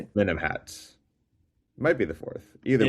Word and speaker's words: Amenemhat: Amenemhat, I finally know how to say the name correct.